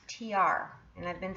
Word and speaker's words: Tiare: And according to Google, it's pronounced Tiare, and I've been saying it Tiare.